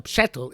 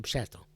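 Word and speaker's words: פשטל: But a pshetel is the antithesis of pshat.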